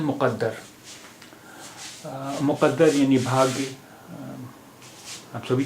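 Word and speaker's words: مقدر: अब आपने देखा कि उच्चारण के फर्क से कितना अंतर पड़ गया। एक शब्द है मुक़द्दर, मुक़द्दर, मुक़द्दर, यहाँ पर का की आवाज़ है,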